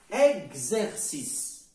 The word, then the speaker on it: exercice: y a pas l'accent tout simplement sur le E est suivi d'un X on ne met pas l'accent si le E est suivi X qui se ne fait pas on ne met pas l'accent et on le prononce comme on prononce cette commande comme s'il y a l'accent exercice ce n'est pas